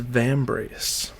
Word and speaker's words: Vambrace: give me a break from reading and I pronounce the title correctly it is vambrace so there is a significant amount of depth